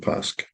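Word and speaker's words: Paske: ago okay Pas is we don't pronounce the E on the end it's just just Tom pasque okay but yeah he's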